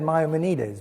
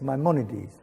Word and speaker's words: Maimonides: So I would have said Maimonides, but apparently for an American, it's Maimonides.